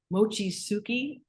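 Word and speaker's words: Mochitsuki: new films coming out let's first talk about Mochi suuki that sounds you pronounce it right that's great so Mochi sui um quite literally means making Mochi and it's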